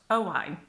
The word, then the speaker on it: Owain: Then there's Owain, which we have got a very similar name in English, which is Owen, but Owain.